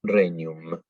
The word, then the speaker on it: regnum: Em, y bueno, la GN es como en italiano una ñ, entonces decimos regnum.